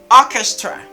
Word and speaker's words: orchestra: character character character character character technology character eighth orchestra orchestra orchestra orchestra orchestra orchest so